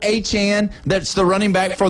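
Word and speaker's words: Etienne: And everybody says Travis ETN, like E Ten, ETN.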